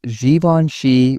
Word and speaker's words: Givenchy: The brand prefers Givenchy, which feels elegant. Some pronounce Hermes as Hermes.